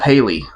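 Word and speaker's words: Hailey: you have a a Haley and a Haley. One is spelled H A I L E Y and the other one is spelled H A L I E. That's both Haley.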